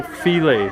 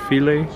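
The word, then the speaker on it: filé: got some some gumbo filet that's called filet not file some people don't know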